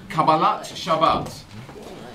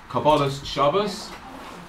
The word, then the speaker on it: Kabbalat Shabbat: Let's start, number one on your sheets, with Kabbalat Shabbat. Yeah, also pronounced Kabbalas Shabbos. Again, that's how you pronounce it.